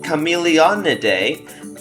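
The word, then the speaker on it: Chamaeleonidae: So their family, which is pronounced Chameleonidae, actually belongs to a clade or a family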